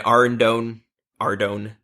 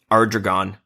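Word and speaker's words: Ardougne: my rogue set, I went and got my Ardone. I always pause after they say that because for like 10 years, do you want to know how I pronounced Ardone? How? Ardragon.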